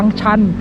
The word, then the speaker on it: ชัน: บันได ทาง ลาด ทาง ชัน มี บัน มี บันได นะ ครับ เรา ออก เสียง ไม่ ค่อย ถูก นะ เพราะ ว่า ติด อีสาน ซัก นิด นึง ออก ชอ ช้าง จะ ยาก มาก เลย อ่ะ ตัว นี้ ก็